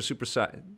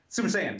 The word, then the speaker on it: Super Saiyan: Saiyans or Super Saiyan? How do you say it? Super Saiyan.